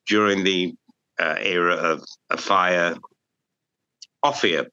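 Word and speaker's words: Offiah: Offier, by the way, is his proper pronunciation.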